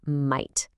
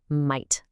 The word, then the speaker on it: might: Okay, let's practice that word might. The gh in the middle is silent, so it can be a little tricky. Just repeat after us. Might.